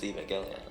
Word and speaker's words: Evangelion: That is the official true pronunciation is Evangelion.